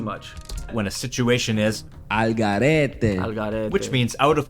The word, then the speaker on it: al garete: It's like vamos al garete. Like you said, like, vamos al garete.